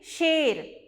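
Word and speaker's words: शेर: In Hindi we say Sher. So here you can see A symbol on the top. That's why it sounds She. Sa plus A symbol She. Sher.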